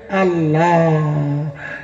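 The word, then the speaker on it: Allah: লিখবেন বাড়ি গিয়ে দেখবেন আপনার লেখাটা হবে এল এল এ এইচ এ উচ্চারণ হবে আল্লাহ একটু জোরে বলুন আরো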